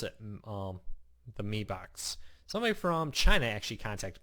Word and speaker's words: Mi Box: you pronounce it the Mi Box. Somebody from China actually contacted me on that when I did a review and said, in China, M-I is said me, like with an E on it.